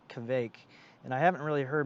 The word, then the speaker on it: kveik: of have this lazy if they're speaking really quickly they might lazily pronounce the v and it sounds like a w so they'll say like